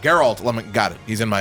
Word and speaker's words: Geralt: Am I finally saying it right? Geralt is how you say it, yes. Yeah, what was I saying before? Gerald? Geralt.